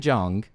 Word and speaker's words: Jeong: However, Ken Jeong, you know, did I pronounce his last name correctly? Jeong?